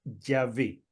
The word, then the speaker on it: Yahvé: Pero en todo caso, si esa fuera la pronunciación, sería Yahvé.